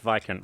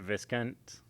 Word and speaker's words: viscount: ] you also pronounced vicant wrong but you pronounced it viscant or Viscount you just don't say the S basically so was or at